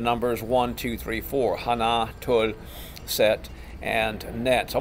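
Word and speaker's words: 하나: Korean the numbers are Hana the accent is on the second syllable most of us in nazma effete myself included up until some of my Korean friends corrected me would say Hana and it's actually Hana Hana okay so Hana tool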